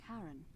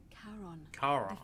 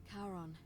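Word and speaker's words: Charon: it's just as you described it only your pronunciation is a little off the name you heard wasn't Karen it was C h Sharon r-o-n as in Caron ferryman of the Dead karon who in exchange for the right coin helps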